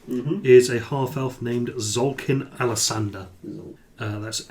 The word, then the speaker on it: Xolkin: is a half-elf named Zolkin Alasander. That's Xolkin.